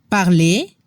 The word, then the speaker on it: parler: Ejemplos de verbos del primer grupo: parler, marcher, chanter, significa hablar, caminar, cantar. La combinación ER al final de los verbos suena como la E en español. No se pronuncia la R.